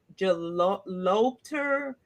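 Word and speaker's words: Gelobter: Um, computer scientist Lisa, and I don't even know if I'm pronouncing her last name correctly, but it's Jalopter.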